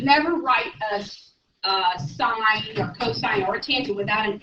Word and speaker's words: cosine: And then you've seen this, and that is pronounced cosine.